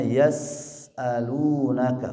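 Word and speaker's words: يسألونك: Terus selanjutnya yas'alunaka, huruf sin kecil ya, dialirkan suara dan nafasnya yas'alunaka, jangan tergesa-gesa. Yas'alunaka yas'alunaka yas'alunaka ya. Suara hamzah disempurnakan, lu-nya 2 harokat.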